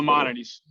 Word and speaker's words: Maimonides: How do you pronounce that? Maimonides in Brooklyn, and then Parker Jewish Hospital. Maimonides.